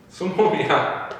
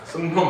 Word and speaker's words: 수놈: 이건 말도 안 되는 말에 우리가 한글 맞춤법 표준 발음이라고 가르치고 있으니 수놈이야. 순놈 아니야. 수놈, 암놈.